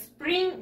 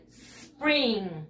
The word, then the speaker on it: spring: No, no se dice spring. No, se dice spring. La S. La S. Just the S. Solamente la S.